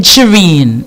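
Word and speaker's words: Sheeran: Ed Shireen.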